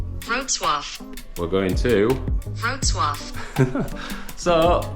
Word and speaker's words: Wrocław: It's Wrocław as I read it, but this is how, you ready? Wrocław.